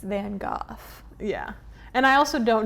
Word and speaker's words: van Gogh: you know more you're like excuse me it's van Gogh yeah and I also don't know if I'm fully pronounced I'm pretty sure it's that's how you would say it is van Gogh yeah it is I wrote it down okay